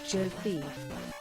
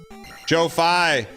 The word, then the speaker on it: Jofi: It's pronounced Jofi. What's Jofi? Joe-Fi. Joe-Fi, thanks for the 9 months of Prime, man.